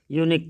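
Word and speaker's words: unique: India is dash यूनिक country, ए लगेगा, भले ही यू से शुरू है लेकिन यूनिक लिखेंगे तो य से शुरू होगा, अ से औ तक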